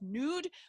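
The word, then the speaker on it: Knud: stern's first name is pronounced nude but it's k-n-u-d and you can decide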